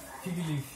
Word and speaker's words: fig leaf: A Pâmela vai ajudar a gente a pronunciar. Fig leaf.